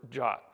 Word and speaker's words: JWT: people in our industry the suggested pronunciation this is right out of the RFC itself of JWT is the same as this English word jot I still have trouble